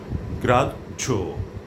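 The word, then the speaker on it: গ্রাহ্য: এর সাথে জফলা আছে কিন্তু হ এর কোন উচ্চারণ হবে না হটি বিলুপ্ত হয়ে জ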